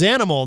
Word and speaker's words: Xanimal: The project is Zanimal.